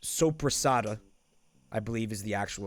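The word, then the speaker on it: soppressata: Super side. The Italian meat. The Italian deli meat that we call super side. Which is actually called, it's pronounced sopressata.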